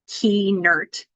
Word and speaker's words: Kuehnert: maybe because when I taught her how to pronounce it key nert she'd gotten it right